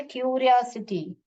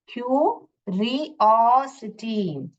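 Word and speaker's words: curiosity: पे देखिए क्यूरियोसिटी क्यूरियोसिटी यहां पे सी वापस क का साउंड कर रहा है क्यूरियोसिटी क्यूरियो कैसे पढ़ने का क्यू रियो सिटी सी वाई सी आई टी वाई सिटी का स्पेलिंग होता है मगर यहां पे एस आई टी वाई लिखोगे आप क्यूरियोसिटी क्यूरियोसिटी ऐसे साउंड को फिर हम पहले वर्ड्स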